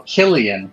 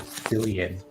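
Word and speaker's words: Cillian: of the great North one of the characters kept calling it silian and he insisted that's how you say his name they kept correcting him you do realize his name is Killian Murphy right that's fine I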